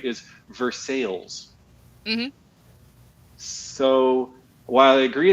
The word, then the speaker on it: Versailles: recently to learn that the local way it's pronounced by people who actually are from there right is Versailles so while I agree it's the same word